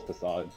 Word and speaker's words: Facade: No, it's actually facade. Oh, if if you got rid of that. I definitely remember pronouncing it fake in my like super early days.